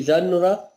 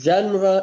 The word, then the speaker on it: genre: Genre is a French word. It has two pronunciations of English. The Americans pronounce it as genre. The British pronounce it as genre, which is the French pronunciation.